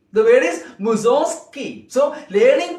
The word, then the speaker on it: Mussorgsky: It is the name of a Russian composer. And the last syllable is ski. Zog. Mussorgsky. The word is Mussorgsky.